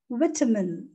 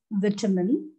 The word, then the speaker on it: vitamin: with terminal vitamin right vitamin in british english it is vitamin in american english it is vitamin both are correct choice is yours british vitamin american vitamin